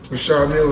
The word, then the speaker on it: Richard Mille: No, I like to call this the, well, people pronounce them different ways. Richard Mille is what my jeweler told me, so. That's exactly how you say it, Richard.